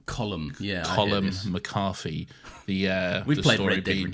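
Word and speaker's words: Colm: it's written col but that's an Irish name and I believe it's pronounced colum colum yeah colum macari the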